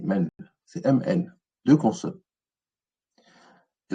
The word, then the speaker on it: mn: En fait, on dit men, mais c'est MN.